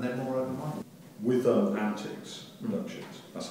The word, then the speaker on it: Antix: believe more and they're more openminded with um Antics Productions that's how you pronounce it yeah um I know that you